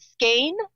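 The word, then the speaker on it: Skåne: So you are in, do you pronounce it Skane, Sweden?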